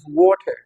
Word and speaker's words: water: Okay, so these are nouns: water, coffee, table, and the stress is on the first syllable.